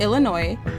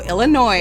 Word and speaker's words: Illinois: down my throat so Illinois what did they say they were like the S is silent I was like I'm